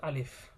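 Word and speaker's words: ألف: আমরা অনেকেই হয়তো বা আলিফ উচ্চারণ করি, কিন্তু এটা আলিফ নয়, এটা কিন্তু আলিফ।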